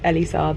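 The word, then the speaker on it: Elie Saab: And it is Elise Saab, and I am a grade A numpty, basically.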